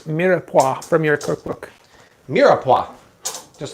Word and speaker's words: mirepoix: Kathy Weimar, how do you pronounce mirepoix from your cookbook?